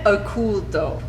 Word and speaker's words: Oculto: So how do you pronounce it? Oculto.